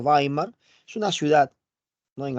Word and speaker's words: Weimar: Como te mencioné, Producto de ello se establece la República de Weimar, se escribe Weimar, se pronuncia Weimar, es una ciudad, ¿no?